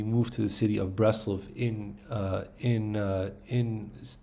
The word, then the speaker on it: Breslov: sorry in Ukraine uh in Ukrainian I think it was called Bratzlov and but we call it Braslov. I think that was the Hebrew way of pronouncing the word.